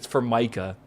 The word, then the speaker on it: Formica: Chat would not get over the fact that I was pronouncing it wrong. Right? It's Formica.